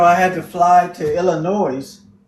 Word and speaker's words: Illinois: had to fly to Illinois no s on the end we don't pronounce that